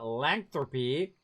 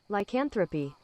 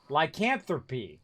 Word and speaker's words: lycanthropy: My theory is that the angry earth infected them with the lanthropy.